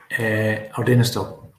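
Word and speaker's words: Ardenistiel: I'll let you pronounce that, John. Ardennastil.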